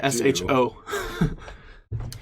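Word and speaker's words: Michaux: It's French, it doesn't matter. You don't pronounce any of them. Michelle. It should be Misho.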